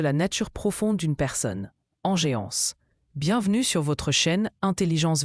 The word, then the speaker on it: engeance: Inéance se prononce enéance.